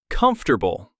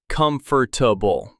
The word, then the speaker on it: comfortable: And comfortable. A lot of learners say comfortable with four syllables, but we actually say comfortable with three.